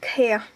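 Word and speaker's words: ក្រាស់: Krah, krah, signifie épais, dense. Donc à l'écrit, il s'écrit krah, mais dans la langue parlée, dans la langue orale, on dit kher.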